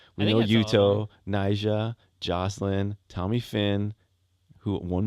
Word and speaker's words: Yuto: Yoto. I think Yuto. You always say saying that name wrong. Yuto.